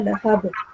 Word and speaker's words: لهب: Here, the sound of Ba is supposed to be pronounced with a jerk, because this is huruf qalqala. Ba is a huruf qalqala. So you're supposed to make make a jerk with the ba sound at the end.